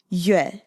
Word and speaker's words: Yue: And the father's name, just to go through it really quick, is Yoo-eh. I'm not doing the tones, but just the pronunciation. Yoo-eh, like Yoo Chun-ting.